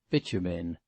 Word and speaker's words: Bitumen: Mr. Freer had caught quite the right pronunciation of this name, which he successfully sounded as Bitumen.